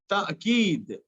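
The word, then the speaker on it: تأكيد: like in the word ta'keed or tarikh. But here you find that the first letter is not Hamza, the second letter is Hamza, and it is silent.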